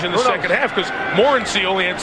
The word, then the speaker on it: Morency: Again, when he walked into our meeting yesterday, we asked, how do you say your name? He said Morency. Morency is what you've heard through the balance of the 2004 second half of the season.